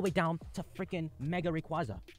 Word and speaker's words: Rayquaza: The three starters, freaking Beedrill, Pidgeot, Slowbro, Steelix, all the way down to freaking Mega Rayquaza. It's pronounced Rayquaza.